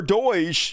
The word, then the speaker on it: DOGE: Internal government watchdog sound alarm over Doge. Yes, Doge is how you pronounce that.